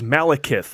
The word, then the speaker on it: Malekith: The villain this time around is Malekith. Adam, am I pronouncing that correctly? I believe you are.